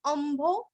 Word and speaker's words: अम्भो: अम्भो अम्भो अ के ऊपर आघात आधा म और भो अम्भो निधि रनन निधि रनन